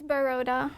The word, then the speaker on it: Baroda: Because I couldn't really pronounce it. It's Baroda.